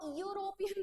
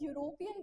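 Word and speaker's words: European: क्योंकि यूरोपियन में इ भले ही वोवेल है बट उसका साउंड जो आ रहा है ना वो य से आ रहा है। हम इ यूरोपियन नहीं बोलते हैं। ठीक है? हम क्या बोलते हैं? हम यूरोपियन बोलते हैं तो उसके पहले हमारा आर्टिकल क्या लगेगा?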